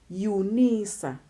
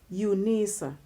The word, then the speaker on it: Unisa: to the width University of South Africa we pronounce them as one weight that it Unisa Unisa and then we have truncation then truncation we